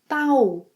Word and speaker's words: tal: Here in Brazil, most people say tal.